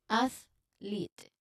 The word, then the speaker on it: athlete: So while it's written as THL, you might pronounce it closer to athlete. So it's broken down in different syllables.